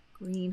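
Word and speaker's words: Gruene: go listen to music Green Hall it is pronounced green um and again a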